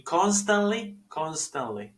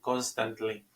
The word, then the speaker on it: constantly: She constantly. No hay necesidad de pronunciar la T ahí y decir constantly. Worries, otra Z ahí, worries.